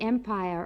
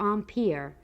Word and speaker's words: empire: not seeing much of the empire or on pier as either pronunciation is correct we still see the